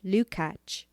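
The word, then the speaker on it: Lukács: the hungarian critic george lucac 1885 to 1971 pronounced lucach has become associated with the term reflectionist to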